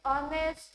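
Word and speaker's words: honest: इज एन ऑनेस्ट मॅन ऑनेस्ट एच पासून जरी spelling start झाली परंतु आपण जेव्हा प्रोनाऊन्स करतो त्याचा उच्चार करतो त्याचा ओ उच्चार होतो आणि ओ साठी आपण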